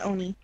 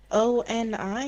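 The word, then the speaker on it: 鬼: Well, it's pronounced as Ione, I Oni. guess. It's just Oni. No, Anoni. Some people say Ione when they say that. O-N-I?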